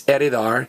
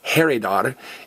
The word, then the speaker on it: heredar: So this H is silent. It's heredar, not heredar, and it's herencia, not herencia.